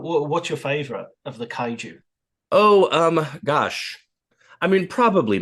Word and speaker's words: kaiju: with the pronunciation because the Japanese word for them is kujuru, is that right? Kaiju. Okay, so when you get